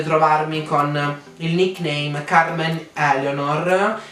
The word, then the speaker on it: Eleonor: Mi raccomando, seguitemi su Instagram, potete trovarmi con il nickname Carmen Eleonor, si scrive come Eleonora senza la finale ma si legge Eleonor, mentre su Facebook Carmen Eleonor, e sì, è il mio cognome.